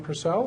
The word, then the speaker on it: Persell: To my immediate left, someone who's not been with us before, I think we decided, from District 5A, Bemidji, Representative John Purcell. Am I pronouncing that right?